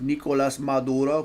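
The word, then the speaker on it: Nicolás Maduro: She pronounced Nicolas Maduro, correct?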